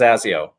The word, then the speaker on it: Zasio: and and uh so the last name is pronounced zazio awesome hey and with that it's a good